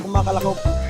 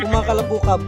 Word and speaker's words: kumakalabukab: Kumakalakaw. Kumakalakaw. Kumakalabukab. Kumakalabukab. Kumakalabukab. Ay Sir, sa kasamang palad po, hindi po natin naitama. Ang tama pong pagkakabigkas ay kumakalabukab.